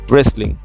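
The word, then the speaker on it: wrestling: এখানে তুমি খেয়াল করে দেখো, এখানে কিন্তু ডব্লিউর পরে আর রয়েছে। সো আমাকে ডব্লিউটা কিন্তু উচ্চারণ করা যাবে না, আমাকে আর থেকে উচ্চারণ করতে হবে কি রেসলিং। সো আমার উচ্চারণ হচ্ছে কি রেসলিং।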